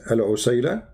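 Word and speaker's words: العسيلة: So in the top, there are, like there's many pronunciation for the word, but the word in the hadith is al-usayla, or usayla.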